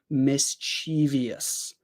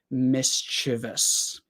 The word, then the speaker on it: mischievous: think what happens is a lot of people say mischievous but that isn't really correct it should be mischievous and honestly for me mischievous does feel more natural but I don't think it's really correct it should be mischevous um anytime that you